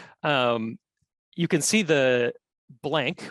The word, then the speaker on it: Colquhoun: As you can see here and yes, it took meeting someone in Scotland to stop pronouncing his name as Patrick "Col-qu-houn," which I did for a while. So it's Patrick Colquhoun (Cal-HOON).